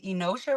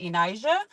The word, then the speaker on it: Enosha: It's pronounced Enosha, but I always go by Enija.